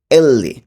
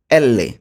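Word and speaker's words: elle: এলকে বলবো এল্লে। এল্লে। এল এর উচ্চারণ কি হবে? এল্লে।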